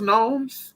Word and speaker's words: gnomes: I think the G is silent.